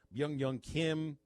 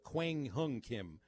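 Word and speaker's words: Kwang Hyun Kim: cardinals and the padres young young kim no i said his name wrong that's uh quang hung kim the lefty cardinals padres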